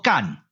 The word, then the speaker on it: 曷: 好呀，将日甲声，这个字伫字典内底确实读作甲，是入声字，但是入声派入上声，所以这个字就要读作第 2 调，也就是好的声调，所以就要读作干。